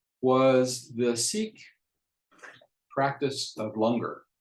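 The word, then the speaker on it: langar: the seek practice of longer rhymes with hunger and it's a free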